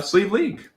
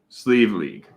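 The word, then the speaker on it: Sliabh Liag: so we are going to check out uh sleeve league or silky in this case uh this is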